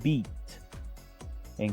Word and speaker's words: beaten: To beat. En pasado, beat. Beat. Y en participio, beaten. Beaten. Fíjense que casi no se pronuncia la E.